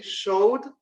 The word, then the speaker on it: showed: Showed con D, la pronunciación.